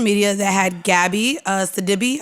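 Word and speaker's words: Sidibe: He decided to drop a meme on social media that had Gabby uh Sadibby, I believe is how you say her name.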